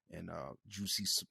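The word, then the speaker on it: Jussie: So like when he's turning into OJ and Juicy Smollett and Pause. Can't. Jesse. it's Juicy. Nah, It's no way. No, Jesse. no way. It's pronounced juicy.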